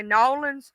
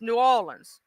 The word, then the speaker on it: New Orleans: Oh, and I love how people who ain't from Louisiana will try to say New Orleans or New Orleans. That ain't how they say it down south. It's New Orleans. Nins, you know what I'm saying? Or B Rouge. They be trying to say it wrong.